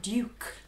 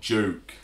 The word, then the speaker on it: Duke: Duke. Duke. The Duke of Edinburgh. Yeah, not Duke.